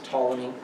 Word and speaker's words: Ptolemy: macedonia ptolemy gets egypt the p is silent so it's ptolemy syria has um the